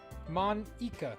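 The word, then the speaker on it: Monika: I think it's Monica. Because she just said it Mon-Ica.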